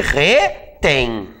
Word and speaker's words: retém: Eu retenho, tu retens e ele retém, certo? Com acento ou sem acento? Vamos novamente aplicar a regra. Retém. Qual é a sílaba tônica? É o tem.